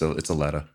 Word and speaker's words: Aletta: And then it's spelled Aletta, but I might say Alita sometimes. I apologize. I think you said Alita last time. Yeah, it's Aletta. Aletta.